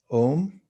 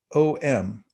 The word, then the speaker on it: om: emulate and the sound om uh the m you'll notice in ohm whenever it's spelled out has a little dot over it that makes it a kind of a nasal sound like bonjour and so when you